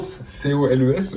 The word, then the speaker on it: Coles: Donc là, on a fait nos courses à Coles, C-O-L-E-S, je crois que ça se prononce comme ça, Coles, je suis pas sûr.